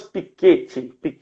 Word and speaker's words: Piketty: nome dele é thomas piketty vocês a pronúncia em francês né tem que fazer biquinho para falar e esse thomas ele